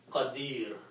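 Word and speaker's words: قدير: or the sound of noon the word is pronounced as Kadir Okay so don't you know that Allah has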